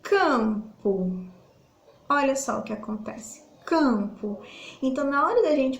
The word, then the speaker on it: campo: aí que que acontece ele é tipo como se ele não existisse na pronúncia e esse aqui como se eu tivesse uma sentiu então fecho a sua o som de ciális sai pelo nariz não são fechado e não sai da boca não consigo pronunciar o m